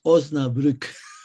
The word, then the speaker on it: Osnabrück: Usted ha estado hablando de la Universidad de Osnabrück, espero que la pronuncie por lo menos cercanamente. Es Osnabrück.